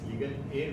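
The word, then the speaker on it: legal heir: dose Masters and guest legal a certificate first of all here h e i r in which the H alphabet H is silent so the correct pronunciation is legal a certificate but in India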